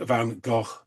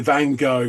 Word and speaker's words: Van Gogh: from the Netherlands, and it is Van Gogh, which rhymes with Loch. Some people say Van Gogh with like a double F, but the Van Gogh pronunciation is just terrible.